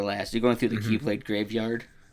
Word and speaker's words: Keyblade: I just like how Leonard Nemoy said Kaiblade once and then they had put a little footnote and like Dream Drop Distance and some pronounce it Kylblade instead of Keyblade.